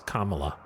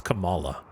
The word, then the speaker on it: Kamala: I think I did because I get confused because it's not the they don't pronounce it the same as Kamala. It's Camala. Miss Marvel.